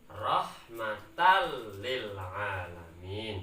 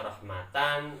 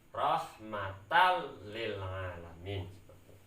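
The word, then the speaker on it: رحمة للعالمين: Cara bacanya rahmatal lil alamin, seperti itu. Tidak boleh dibaca rahmatan atau rahmatal, tidak boleh. Harus jelas, ya, maksudnya tanpa dengung, ya, diidghamkan tapi tanpa dengung. Rahmatal lil alamin.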